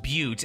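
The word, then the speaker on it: butte: and our final neighborhood is the acquisition boot butty what is that word okay so it's apparently pronounced but and what it actually is like you know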